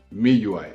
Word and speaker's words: MIUI: of a difference between Mi UI okay I call it Mi UI I have always called it Mi UI but I know that the more popular pronunciation is MIUI so not that there's